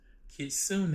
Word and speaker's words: kitsune: Kitsune, it means a fox. The second word is described in katakana. Kitsune. It is also a fox. The third word is described in kanji, which is borrowed Chinese characters, and it also reads kitsune. So all three words are pronounced the same.